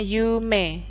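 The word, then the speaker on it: 夢: cita-cita impian atau cita-cita itu bahasa Jepangnya Yume Ed sini bacanya Yume impian disini contohnya adalah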